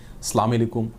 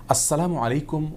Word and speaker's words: আসসালামু আলাইকুম: দেওয়া অনেকে আসসালামু আলাইকুম অনেকে আসসালামু আলাইকুম এরকম বিভিন্ন বিকৃত উচ্চারণে সালাম দিয়ে থাকেন জনক ইয়াহুদী আমাদের প্রিয় নবী সাল্লাল্লাহু আলাইহি ওয়াসাল্লামকে বিকৃত উচ্চারণে সালাম দিয়ে বলেছিলেন আসসালামু আলাইকুম যার কারণে আসসালামু আলাইকুম ওয়ারাহমাতুল্লাহি ওয়াবারাকাতুহু এভাবে বিশুদ্ধ উচ্চারণ আমাদেরকে সালাম দিতে হবে তাছাড়া আসসালাম এটি আল্লাহতালার